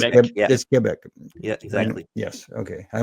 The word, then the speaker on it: Quebec: It's not Quebec. No, it's Kebec.